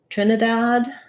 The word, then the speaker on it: Trinidad: tobago um t-o-t tobago so for trinidad first syllable stress it's just like the word dad has the black cat vowel there so you're going